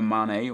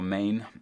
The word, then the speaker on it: Mané: here we got s sadio mané or Maine um I don't know how you guys pronounce it I've always read it as Mane because of the little uh the little accent over the top of the E and then we got